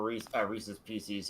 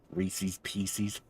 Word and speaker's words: Reese's Pieces: I think that might have been my candy bag shifting cuz I have leftover rees pieces uh from the uh movie I watched yesterday. Reese's Pieces.